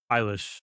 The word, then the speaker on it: Eilish: A Native American nation whose territory includes the Los Angeles basin, where Eilish, how do you pronounce her name? Eilish.